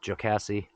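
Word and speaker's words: Jocassee: next opportunity and again here's Lake jocassi which I think is the right pronunciation uh on our left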